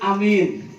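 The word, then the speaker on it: آمين: Dan kemudian amin. Bu, amin itu A-nya panjang, Mi-nya panjang, I-nya pendek.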